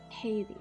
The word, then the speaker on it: Heide: How do you even freaking pronounce it? The first part, Heidi.